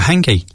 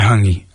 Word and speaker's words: hangi: Um, and it was food related and I was like, "What's the oven called when you cook a hanky?"